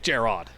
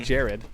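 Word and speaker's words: Jerrod: yeah but it was gerod like a big O like gerod I always do that I killed Jared for you never been pronounced that way I don't know why you pick this up it's not Ed it's O you to be very certain it's not Jared it's gerod I thought is it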